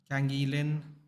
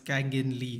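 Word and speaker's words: Lee Kang-in: Kangilin. Sorry, it's Kangin Lee, isn't it? Said it wrong.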